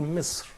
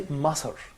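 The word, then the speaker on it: مصر: or Misr, Yeah. as it is mentioned in Quran. But we don't say Masr, Yeah. because again, we don't have vowel here above the letter sa.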